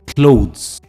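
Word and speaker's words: clothes: होता है इसकी सही प्रोनंसिएशन है क्लोथ क्लोथ य एक वन सिलेबल वर्ड है क्लोथ्स I bought new क्लोथ्स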